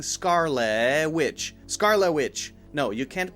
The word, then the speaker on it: Witch: so Scarlet Witch Scarlet Witch and there we are saying the W sound so make sure it's witch not vich witch witch with it is short I sound Scarlet Witch Scarlet Witch